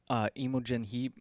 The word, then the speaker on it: Imogen Heap: So if you look on the back, I guess Imogen Heap, if that's how you say her name, she actually read the book and did a little review about it.